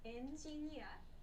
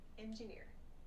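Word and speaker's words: エンジニア: So engineer means engineer. Engineer. So make sure you pronounce this with the Japanese pronunciation, not engineer, but engineer.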